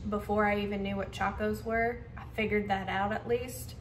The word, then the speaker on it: Chacos: No, you actually said Chacos right.